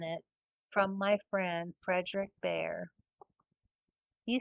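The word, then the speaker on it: Bhaer: It isn't pronounced either beer or bear, as people will say it, but sometimes something between the two, as only Germans can give it.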